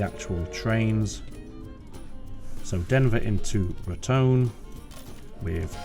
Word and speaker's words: Raton: I believe it's pronounced Ratone. I don't think it's Ratton. I'm going to stick with Ratone.